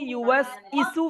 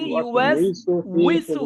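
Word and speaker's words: يُوَسْوِسُ: আর সঠিকটা কি হবে আমরা অনেক সময় এভাবে পড়ি আল্লাযী ইউওয়াস ইসু ফি সুদুরিন নাস পড়ি এটা ভুল সম্পূর্ণ শুদ্ধ উচ্চারণ হবে আল্লাযী ইউওয়াস উইসু আল্লাযী ইউওয়াস উইসু ফি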